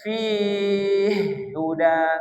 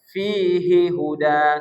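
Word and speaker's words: فِيهِ هُدًى: Ya, contoh fihi huda mana di situ muta masih lain? Ha satu hi satu hu. Maka tak boleh fi huda. Tak boleh. Tapi ada bacaan imam yang lain. Ah, bacaan imam yang lain itu seperti itu. Jadi diidgamkan dia fi huda. Tapi kalau kita kan riwayat apa tadi? Hafz. Kalau riwayat hafz dibaca izhar fihi huda.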